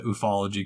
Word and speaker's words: ufology: the 1950s and 60s in the ufology communities or the ufology communities that's how you pronounce it and like at